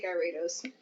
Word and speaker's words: Gyarados: name wrong too because you guys say gyarados i say guyratos i think with this